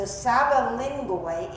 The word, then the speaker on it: Sabalingoi: It's not S-B-A, it's S-A-B-A-L-I-N-G-O-I. Sabalingoi.